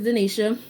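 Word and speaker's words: Dinisa: backstory my mom wanted my middle name to be like dionysia but she felt like people couldn't pronounce it or spell it which i felt like it's a middle name no one really cares but she changed it to denisha there's no h so growing up i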